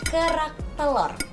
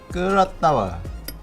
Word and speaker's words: kerak telur: Can you say it like kerak telur? Kerak telur.